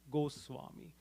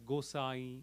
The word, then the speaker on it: Goswami: Goswami. Also sometimes in colloquial terms, or in regional, with the regional language influence, it is otherwise known, pronounced as Gosai, etc.